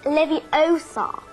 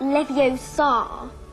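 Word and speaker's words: Leviosa: you're saying it wrong it's Levi Oar not Levi Oar you do it then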